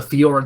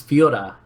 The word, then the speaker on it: Fiora: become this big team fight menace that we know he can be, so that the Fiora doesn't really matter until the late game.